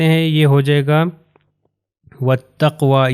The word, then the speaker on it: وَالتَّقْوَى: یہ ہو جائے گا وَالتَّقْوَى، یہ واو کے بعد الف اور لام میں یہ پروناؤنس نہیں ہوں گے، تو یہ تے سے مل جائے گا، ہو جائے گا وَالتَّقْوَى۔ پھر یہاں پر ہمارے